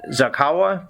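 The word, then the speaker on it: Zaghawa: Is it Zakawa, people of Western Sudan and Chad? From Darfur, northern Darfur in Sudan. So the northern Darfur region predominantly inhabited by the Zakawa tribe and also the Ford tribe in some part of it.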